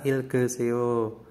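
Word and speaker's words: 읽어요: ini bacanya Ikta ya Nah ketika ikqta ini dihilangkan dananya dihilangkan dannya digabung dengan dengan misalkan di belakangnya ada vokal maka kioknya ini akan menggantikan ee ieng jadi naik ya jadi gioknya itu akan naik ke atas jadi cara membacanya adalah ilgeso seperti itu bacalah Terus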